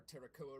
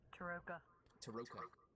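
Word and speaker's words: Tarokka: And for those of you that were there when we got our Terracoa reading, or whatever it's called. Taroka. When we got he deliberately mispronounces it.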